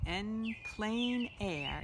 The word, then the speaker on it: en plein air: It's spelled this way, en plein air, even though that doesn't look like plain. It's pronounced that way, and it really literally means in open air.